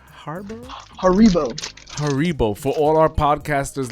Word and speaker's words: Haribo: Harbor? Haribo.